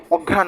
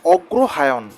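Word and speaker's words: অগ্রহায়ণ: আমরা যে চলতি ভাষাতে বলি অঘ্রণ মাস। একচুয়াল উচ্চারণটা অগ্রহায়ন। এই অগ্রহায়ন কেন বলা হয়?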